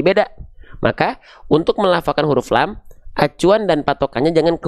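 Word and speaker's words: لام: Ketika dia belum berharakat namanya adalah huruf lam. Saya tulis di atasnya, ya. Oke. Jadi, jangan teman, jangan ada di antara teman-teman yang bilang ini adalah huruf la. Tidak ada huruf hijaiyah yang namanya huruf la.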